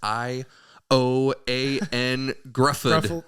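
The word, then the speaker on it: Ioan Gruffudd: And the guy's name who I can never pronounce. Ioan Grufford.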